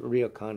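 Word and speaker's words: Ryōkan: of, I pronounce it ryokan. I've heard Japanese people call it ryokan. It's the same word they use for these Japanese guest houses or hotels that are in the rural areas, etc.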